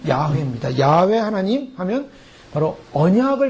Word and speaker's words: 야훼: 원래는 야훼라는 발음을 씁니다. 근데 그것을 이제 우리나라 말로 번역한 것은 여호와라는데요. 오리지널로 발음하면 야훼입니다.